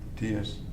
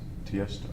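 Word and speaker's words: Tiësto: T.S. Tiesto. He's an electronic Can you DJ. spell it? Tiesto. So the name is Tiesto. It's not initials, it's Tiesto.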